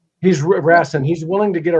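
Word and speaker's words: Rasson: and get how do you say the table, Rassen or Rassan? Or Rassin. He's Rassen.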